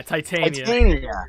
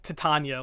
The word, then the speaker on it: Titania: Titania. Yeah, Titania. Hey, I said it wrong too. I was like Titania like originally, so I put the wrong emphasis on the wrong syllable.